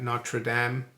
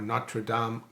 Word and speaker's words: Notre-Dame: the the fire at notre-dame Cathedral or not true dom cathedral not notre dame as the americans say it yeah it was an